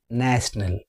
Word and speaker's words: national: Whereas in national it is having three syllables and the stress is on the first syllable.